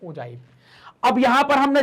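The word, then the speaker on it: ogive: उसको क्या कहते हैं, ओजाइव कहा जाता है, जिसका इसको क्या कहते हैं, उसका उच्चारण भी हम ओजाइव ही करते हैं।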